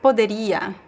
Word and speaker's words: poderia: So it's poderia, poderia, poderia. Oh yeah, no H sound as well.